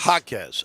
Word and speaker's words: Jaquez: The guys that I think, do you think it's Jaquez, right? Is that how they pronounce the kid from UCLA? Jaime Jaquez. Jaquez, okay.